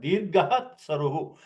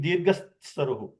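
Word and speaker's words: दीर्घः त्सरुः: You have to pronounce the visarga after the dirga. Okay. Get saru, you pronounce saru, but dirgahat saruhu. You can't make it dirgas saruhu.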